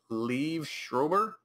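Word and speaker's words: Liev Schreiber: I can't leave Schrober.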